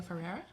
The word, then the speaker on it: Ferreira: Ferreira. So Ferreira.